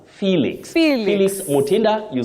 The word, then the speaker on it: Felix: You say Felix, you also say helix, not helix. Okay. We see Felix from the spelling, but you pronounce that name as Felix.